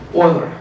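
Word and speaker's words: Euler: of invisit fluid and this is known as oiler equations. Okay. So, oiler pron pronunciation is funny.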